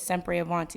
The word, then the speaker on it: sempre avanti: name of it is sempre avanti that's the correct way to to pronounce it but it's italian and that means forever